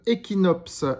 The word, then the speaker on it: Ekinops: Alors aujourd'hui, je vais vous parler de Equinops. Equinops, ça s'écrit E K I N O P S.